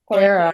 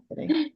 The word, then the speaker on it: Ere: Yeah, Sounds like I was pronouncing your name as Era, correctly. Yeah. Era, but it's Ere, right? Yeah. Yeah. Yeah. Ere.